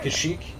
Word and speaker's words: Kashyyyk: that planet yeah yeah kashyyyk is you know it's the whole place yeah that's how you pronounce it you're not the